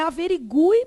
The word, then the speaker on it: averigue: falar lá como averigue então é averigue mesmo de modo que esse U aqui é Aton tônico é tônico ele é vogal todo mundo consegue ver aqui e na sílaba seguinte vem o quê outra vogal ó vogal e vogal que que aconteceu aqui gente eato bom nesse caso aqui o u é nulo nesse caso aqui ele